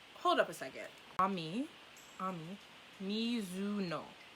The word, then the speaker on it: Ami Mizuno: her an Ami hold up a second mommy Ami Mizuno Ami Mizuno okay okay I think I got the pronunciation down Ami misino is a quiet and